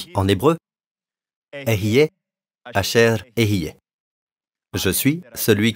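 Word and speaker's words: אהיה: Dites Ehyeh, je suis. Le mot s'écrit comme ceci.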